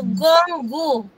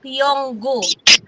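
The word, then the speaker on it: 공구: Pero kapag sin ba may 09 ganyan sasabihin niyo na po Gonggu. Kuha po natin instead of Yonggu.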